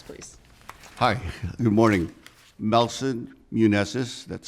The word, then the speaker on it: Muneses: Melson Muneses, that's spelled M-E-L-S-O-N, last name Muneses, M-U-N-E-S-E-S.